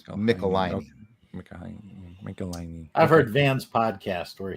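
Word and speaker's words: Michelinie: you pronounce it and they wrote back it rhymes with pickle my knee so it's mickelein i've heard van's podcast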